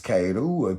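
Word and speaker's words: 帰る: qui revient vers nous la grenouille qui se prononce kaou qui veut dire rentrer en japonais et et donc ici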